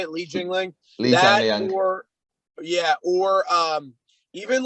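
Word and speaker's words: Li Jingliang: I think that, like, you know, Li Jingling, that's how you say it, Li Jingling, or even like a Leon Murphy.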